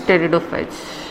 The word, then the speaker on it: pteridophytes: Your P is silent, so we call them as pteridophytes.